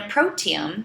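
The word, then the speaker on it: proteome: and the in a protium so it's kind of sounds like the word genome like the human genome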